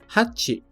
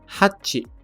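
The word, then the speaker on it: はち: apoio Assim espero tem a primeira que é hati hati usado na leitura geral bem simples usa-se na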